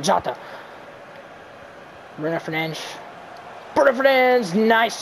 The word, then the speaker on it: Jota: It's Jota. That's how you say it. Jota.